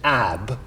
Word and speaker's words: Ebba: I answer that question I must pedantically point out uh the correct pronunciation should be St AB but we'll stick to e because it's what we call around here so fair enough her